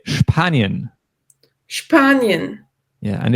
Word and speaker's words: Spanien: And as we heard earlier with the verb sprechen, to speak, in the case of SP in German, we always pronounce it sp. So we say Spanien.